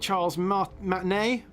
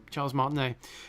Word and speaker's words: Charles Martinet: Terranium says, it is a crime that Charles Martinet, how do you say that name? Charles Martinet, isn't doing the characters.